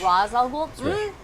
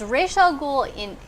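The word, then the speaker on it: Ra's al Ghul: Is it pronounced Raish Al Ghul or Raish. Raz Al Ghul? It's Raish Al Ghul it's Raish in Hebrew. No, not Hebrew. What am I thinking? Hebrew. And Arabic? Raz in Arabic.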